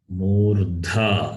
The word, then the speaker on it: मूर्धा: Murdha, you have to say. मूर्धा, Dha is Mahaprana. मूर्धा, See, where Mahaprana is there, that emphasis you have to give.